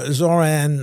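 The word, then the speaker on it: Zohran: It's a good thing that Zoran rhymes with moron.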